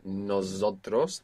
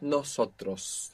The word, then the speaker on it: nosotros: Most English speakers find themselves accidentally saying nosotros with a Z. Not nosotros, but nosotros. It's an S.